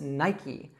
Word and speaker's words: Nike: Now in the United States, we would call this Nike. Now it's a bit surprising also because, as I told you before, usually in English words we don't pronounce that E that comes at the end.